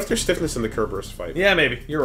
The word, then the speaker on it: Cerberus: for stiffness what if there's stiffness in the kerberus fight yeah maybe you're right wish you could use it from this menu I'm going to keep saying kerberus to piss everyone off who wants me to say Cerberus while kerberus is how it would I like